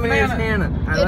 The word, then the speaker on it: Hannah: My name is Hannah. It rhymes with banana.